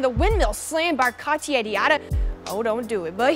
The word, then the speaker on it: Diarra: say the last name, but the last name pronounced the right way is Jara. And in the windmill slam by Cartier Diarra.